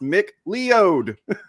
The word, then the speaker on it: McLeod: It's pronounced McLeod.